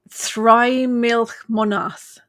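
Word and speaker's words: Þrimilcemonað: The Anglo-Saxons call it, and here goes the pronunciation. This one's a doozy. Thry-milch-monath.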